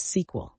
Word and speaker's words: SQL: What language is known for its use in database management and is pronounced as SQL?